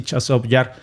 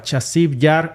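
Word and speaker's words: Часів Яр: llamarle así chov yar yo tenía la duda de cómo se pronunciaba chasi yar o chaso yar Y al parecer chasi yar es la transliteración eh si lo traducimos del ucraniano al al español pero desde la forma rusa no es chasi yar sino chov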